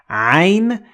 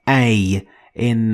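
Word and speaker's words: عين: So if you have difficulty pronouncing ain, you can just say a or I. Instead of it.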